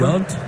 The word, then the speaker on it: Yount: How do you pronounce that? Robin whatever? Yount.